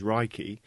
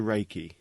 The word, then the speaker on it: Reiki: Although the proper Japanese pronunciation is Reiki, it has been westernized to Reiki.